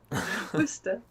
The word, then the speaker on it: Worcestershire: I would accept Worcester. That's fine. But this Worcestershire, I don't know what the heck is up with that. That's a lot of extra letters to say nothing. Worcester.